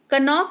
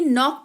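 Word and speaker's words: knock: हैं यानी कि चाकू कनोक नहीं नोक पढ़ते हैं यानी कि दस्तक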